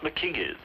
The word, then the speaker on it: Mackenzie: In that case, why aren't Mackenzies pronounced McKingies?